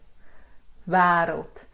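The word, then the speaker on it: wêreld: So it's a short E that you get in ever, but you kind of like say it, he, le, wereld.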